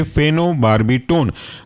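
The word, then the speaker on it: phenobarbitone: Spelling तोड़ करके ऐसे बोलेंगे फेनो PHENO और बार्बिटोन BARBITONE। जुड़ेंगे तो ये कहलाएंगे फेनोबार्बिटोन।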